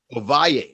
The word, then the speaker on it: Ovalle: him his name is ovalle is that correct how you how do you say your last name sir no that's correct you got it is running